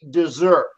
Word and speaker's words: dessert: But it's pronounced like the verb desert. Okay. He deserted his post to go eat dessert.